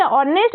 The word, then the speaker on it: honest: तो एठी ऑनेस्ट यूज हेछि। ऑनेस्ट शब्दटी हमर एज कन्सोनेंट रो आरंभ होइतिले मध्य उच्चारण समय रे एज ता बा साइलेंट रहे बा नीरव रहे।